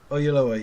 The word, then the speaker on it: Oyelowo: David by that man whose name I cannot pronounce. David Oyelowo.